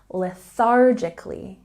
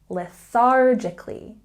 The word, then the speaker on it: lethargically: if you say lethargically there's a stress on the second syllable and we have the th sound get silly with me put your tongue between your teeth lethargically lethargically lethargically good don't say he moves